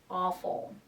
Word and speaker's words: awful: bad terrible or awful W is silent awful okay let's take a